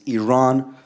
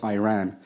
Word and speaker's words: Iran: the Iranian people but you're pronouncing a country's name wrong a country is named Iran not Iran please once and for all let's get this